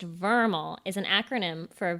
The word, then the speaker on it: VRML: san francisco oh no so vrml pronounced vermal is an acronym for